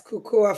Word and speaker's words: Kukuwa: Am I pronouncing correctly? Yes, Kukuwa Fitness correctly.